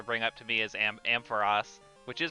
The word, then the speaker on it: Ampharos: It is officially pronounced Ampharos. I can say that with confidence. It's pronounced that way in the anime, both 4Kids dub and post 4Kids dub, and it's also pronounced that way in Pokédex 3D.